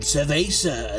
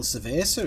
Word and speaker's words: cerveza: They probably wonder what the hell cerveza is, because you don't pronounce it with a V. For a start. The Spanish language, a V is pronounced like a B.